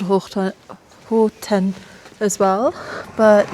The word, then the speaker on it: Hohtenn: Again, basically doing the same thing in the next spot, which is called Hohtenn, or I don't know, not sure how to pronounce it. So according to the announcement, it's Hohtenn.